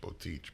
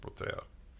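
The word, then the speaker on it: Boteach: Rabbi who's a well-known rabbi b-o-t-e-a-c-h an English both teach but it's pronounced protea and it's called kosher sex it's a great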